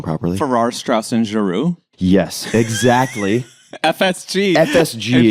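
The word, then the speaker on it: Farrar, Straus and Giroux: Farrar, Straus, and Giroux.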